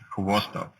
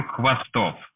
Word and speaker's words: Khvostov: Hello, and now try to explain how to pronounce Khvostov. Well, in Russia, that would be the last name, and you would say something like Mikhail Khvostov. So you start with saying then you say v.